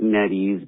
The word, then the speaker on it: Nettie: I get it if you guys like netties, but I have a personal experience with this person named Nettie, and as you well know, Nettie rhymes with sweaty, and there's a lot going on there.